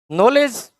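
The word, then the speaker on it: knowledge: ठीक है, तो ये के जो साइलेंट है, नॉलेज।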